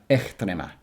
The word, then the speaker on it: echtrema: And of course, ch, when pronounced at the end of a syllable, is cha. So, yeah, echtrema.